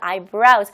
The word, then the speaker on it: eyebrows: 그래서 eyebrows, 복수 형태로 쓰지만 하나를 얘기를 할 때는 물론 단수 형태로 쓰시는 거죠. 발음 조심하세요. brows가 아니고요. brows. 많은 한국 분들이 eyebrow라고 하지만 eyebrows이고요.